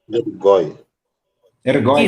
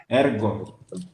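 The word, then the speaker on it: ἔργῳ: Então, Ergói. Isso. Só que você não pronuncia ela. Ergo. Perfeito. Então, você vai falar ergo, mas você vai transliterar ergói.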